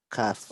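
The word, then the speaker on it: ك: Qaf, I make my mouth round. Kaf, I make it flat.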